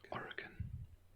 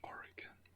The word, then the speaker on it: Oregon: I'll start in the top left corner of the country, where the first state would be Oregon. I already messed up. This is Oregon.